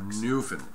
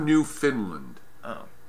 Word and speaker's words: Newfoundland: area just given the total Finland I can't pronounce that right Newfoundland new Finland new not new Finland Newfoundland New Kingdom hey you know alright well